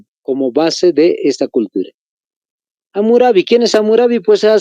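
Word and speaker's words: Hammurabi: el código de amurabi con una h y do m se escribe por si acaso amurabi el código de amurabi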